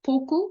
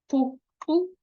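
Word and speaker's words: Poqo: So in 1961, the PAC forms a group called POKU. Now that Q is a click, it's POKU, POKU, something like that.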